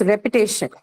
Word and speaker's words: repetition: Next one here is repetition. Now, Repetition. penultimate syllable now. Penultimate. Again, this has the shen suffix, hence penultimate.